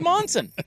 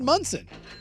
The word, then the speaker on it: Monson: And I thought his name was Monson. well, it's spelled Monson, MON, but he said Munson.